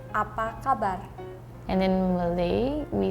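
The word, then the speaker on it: apa khabar: So does that affect a little bit how you pronounce that word? No. I think Really? it's still apa kabar. Yeah. Like the H is silent.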